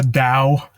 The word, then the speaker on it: Dow: And yeah, so in certain of the works, they're called the Dow.